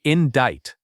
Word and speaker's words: indict: This legal word hides a silent sea. It sounds like indict.